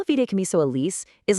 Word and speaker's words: fideicomiso: It's pronounced fideicomiso.